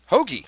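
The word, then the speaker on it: Hoge: they all win some his last name rhymes with one overpar on the whole bogy hogi oh yeah Tom hogi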